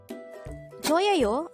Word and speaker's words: 저예요: 저예요 could be divided into 3 syllables. 저예요. 저 is formed from the combination of the sounds 지읒 and o, while 예 is just the sound of 예 itself with a no sound iyong or a placeholder iyong on the first part of the syllable.